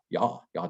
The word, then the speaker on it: Ja: So like, have you ever heard Ja, das ist gut. Ja is J-A. So J is pronounced with a Y sound in German.